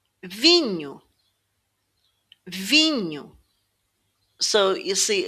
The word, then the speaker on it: vinho: This NHO combination sounds like the word new in English. New. Vinho. So you're actually saying V and new. Vinho.